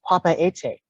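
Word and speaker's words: Papeete: the king of Tahiti the actual pronunciation of its name is Papa ete and it made its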